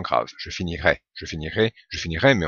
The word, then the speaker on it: finirai: Alors en théorie, il y a une petite différence de prononciation pour le futur. Ici à i on entend un e un peu plus fermé qui correspond au e accent aigu.